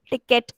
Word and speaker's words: ticket: Okay, imagine there is a letter I here, and how will you pronounce it?